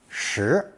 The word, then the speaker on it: 石: Before introducing the next character with the P phonetic, we need to learn another basic pictogram, the character for stone, pronounced second tone, shi, shi.